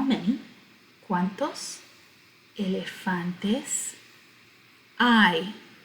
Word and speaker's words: hay: how many cuantos elefantes i h a y is pronounced i like your eyeball i and it means are